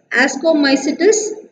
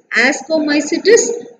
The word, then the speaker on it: Ascomycetes: It's zygomycetes, ascomycetes, basidiomycetes and deuteromycetes. How to pronounce that?